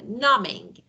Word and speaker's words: numbing: Yeah, B is actually, you know, B is not pronounced, no, very loud. It's numbing, mind numbing.